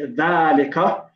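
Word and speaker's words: ذَٰلِكَ: All I know is that we say dhalika, and we pronounce it as if an alif is written. However, it's not written.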